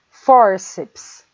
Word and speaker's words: fórceps: Por exemplo, a palavra fórceps. Fórceps. A gente divide por sílabas, fórceps. A palavra fórceps termina com PS, vejam, e a sílaba tônica é for.